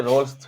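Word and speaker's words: Rolle: कुछ लोग इसको रोलेस थ्योरम पढ़ते हैं, बट मैं रोल्स ही पढ़ता हूँ इसको, और करेक्ट प्रोनाउंसिएशन इसका रोल ही है। ठीक है, कुछ लोग स्पेलिंग के साथ इसको रोले कह देते हैं, दैट्स नॉट करेक्ट नेम। ठीक है, correct name is रोल, रोल रोल रोल।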